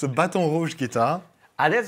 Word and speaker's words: Baton Rouge: able to pronounce that name because it's a baton rouge guitar and that's how you pronounce it yeah absolutely and weirdly enough it